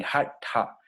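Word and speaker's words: हठ: Esa T con punto abajo es lo que se llama retrofleja. La lengua se retrae. Hatha.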